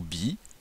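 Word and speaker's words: 火: Et le deuxième peut être prononcé ka ou bi. S'il est prononcé bi, il s'agit du feu.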